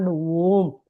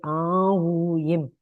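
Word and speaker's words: Aum: It is not Om. It is A-U-M.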